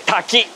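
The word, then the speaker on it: 滝: one is very easy waterfall in Japanese you say Taki waterfall is what we are talking about talking about talking about talking Tak okay so what's the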